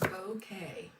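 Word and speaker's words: Bowkay: It's pronounced bouquet. Bouquet. Oh, Kim looked it up. Bouquet. Bouquet. Bouquet. Okay. Like a bouquet, but just with a bow.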